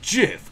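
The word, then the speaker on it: GIF: yeah it's no different it's pronounced jiff like the peanut butter the creator said so laser is an acronym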